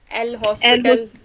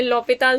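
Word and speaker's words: L'Hôpital: एल हॉस्पिटल। एल yes, हॉस्पिटल rule. पहले इसकी correct pronunciation क्या है? लॉपिताल्स रूल। किसी ने कॉलेज में लॉपिताल सुना है या एल हॉस्पिटल?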